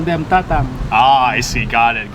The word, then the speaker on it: Tatang: in North Hollywood to Tatang restaurant in order so that you can get this feast. You pronounce it Tatang. Tatang. Tatang.